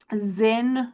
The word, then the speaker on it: Zyn: So Zen, which is spelled Zyn, is one of the most popular brands right now, but there are a bunch of other brands as well.